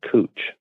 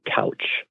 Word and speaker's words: Couch: Portland was a freshwater port, and it was, essentially a lot of credit goes to a man named, Captain Cooch, or some people pronounce it Couch.